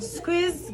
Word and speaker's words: SQUIIZ: follow Squeeze on IG. It's spelled just like that.